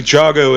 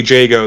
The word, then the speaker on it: Jago: pronounced it I think jogo in that video which fair enough that's how it's spelled but it is pronounced canonically Jago the same way that